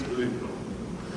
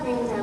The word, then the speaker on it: Glinda: Although some of us still tend to favor form over content, Miss Glinda. It's Glinda with a G.